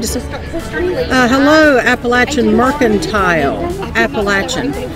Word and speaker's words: Appalachian: Appalachian. See, I think that's the proper way to say it. All my life I've said Appalachian, but I think Appalachian is correct.